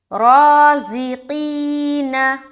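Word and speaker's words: رازقين: रा अलिफ ज़बर रा, ज़ा ज़ेर ज़ी, क़ाफ या ज़ेर क़ी, नून ज़बर न, राज़िकीन, राज़िकीन।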